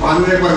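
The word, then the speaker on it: honourable: इसके पहले क्या आया है, जैसे ऑनरेबल मैन, ऑनरेबल माने सम्मानित, आदरणीय। तो ऑनरेबल मैन है, वुमेन है, लेडी है, तो इसका भी एस साइलेंट है, ये भी ओसे बोला जाता है।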